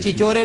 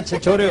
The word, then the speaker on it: چھچورے: اچھا، چچورے نہیں ہوتا، چھچورے ہوتا ہے.